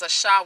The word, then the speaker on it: Asha: So she is Asha. We are the Ashans, mispronounced Asians, right?